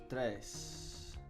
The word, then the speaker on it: três: Three is going to be três. And the E has got a little hat on it, which I think that means it's fechada. It's letra fechada, which means it's a closed letter pronunciation, I think.